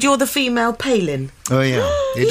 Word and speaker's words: Palin: Advent of Sarah Palin everyone pronounced my name Palin so I would have to go and say oh no thanks it's actually Palin they say oh Palin